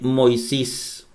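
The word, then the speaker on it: Μωϋσῆς: en griego es igual por ejemplo aquí está en mí o micro y omega y aquí viene la ypsilon ipsi lumbreras la sigma sigma la 'jota jota' y la simón ahí dice moisés y en ocasiones ocurre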